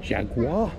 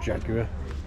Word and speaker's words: Jaguar: And a Jaguar. As the Americans say, or Jaguar, as we say in this country.